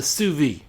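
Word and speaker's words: sous vide: There's something that's become more popular in recent years called the suvi. Uh it's not uh spelled the way it's pronounced.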